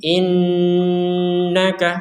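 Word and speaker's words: إِنَّكَ: tawwabur rahim seperti itu ada Nun bertasydid ini kita dengungkan seperti mim bertasdid lagi di atasnya juga ada Nun bertasdid nah ini ini semuanya kita dengungkan untuk bertasid inaka seperti itu ada nun sukun bertemu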